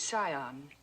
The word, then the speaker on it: scion: of a prominent family the word is Sion the sea is silent yes well he looked